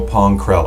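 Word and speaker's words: Pong Krell: lot of clones and his name is general poncrell i said it right this time right yes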